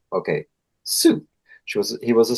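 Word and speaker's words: Sioux: Sue. Sue. Like Suzie in the banshees. Yeah. Sue. That sounds pronounced. Well, that's how it's pronounced. Okay. Sue.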